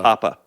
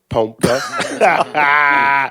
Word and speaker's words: Pompa: How do you say it correctly? Tom Papa. Pompa.